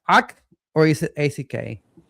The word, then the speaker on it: ACK: ACK, or is it ACK? It's ACK, and some people call it ACK, and it's fine, but we prefer ACK. Yes. Okay. So So, go so ahead. Yeah, so ACK is another capability that